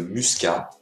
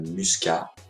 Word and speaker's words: muscat: chardonnay le chardonnay le merlot le merlot le muscat le muscat le pinot noir le pinot noir le pinot